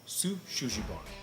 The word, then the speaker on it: Shou Sugi Ban: But anyway, Shou Sugi Ban.